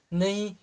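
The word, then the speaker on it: know: एक और देखते हैं क्या ऑनर पढ़ेंगे क्या नहीं इसको हम क्या पढ़ेंगे ओनर ओनर मिस क्या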